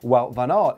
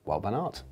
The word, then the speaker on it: Wout van Aert: Is it Wout?